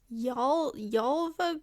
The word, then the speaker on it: Gävle: I think it's pronounced Yalva goat.